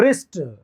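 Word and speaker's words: wrist: व का रहा है रिस्ट डब्लू साइलेंट है र का आर का साउंड आ रहा है रिस्ट य साइलेंट ही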